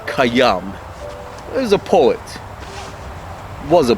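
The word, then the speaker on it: Khayyam: than they are with hayam you see they're they're both more comfortable of course you pronounce it kayam is a poet was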